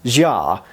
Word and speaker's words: Xia: I think it's pronounced Xia. X-I-A in transliterated English.